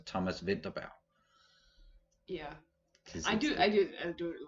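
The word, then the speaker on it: Thomas Vinterberg: i know that like english speakers will pronounce his name thomas winterberg but that's probably why it happened but like you pronounce it in danish it's thomas vidabao yeah i do i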